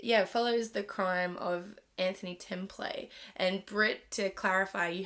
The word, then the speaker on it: Templet: At 3:15 a.m., emergency services received a harrowing phone call from 17-year-old Anthony Templet, or Templet. I wrote it phonetically here. It's Templet.